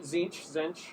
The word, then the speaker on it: Tzeentch: Zinch? Yeah, all right. Yeah. Is it Tzeentch? Zinch. Yeah. I've heard a million ways to pronounce it.